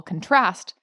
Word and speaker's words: contrast: is put uh so take a word like contrast the noun the emphasis is on the first syllable but if you put the emphasis on the second syllable contrast you've now got a verb and that's the action